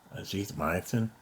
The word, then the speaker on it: azithromycin: I got some prednisone and azithromycin.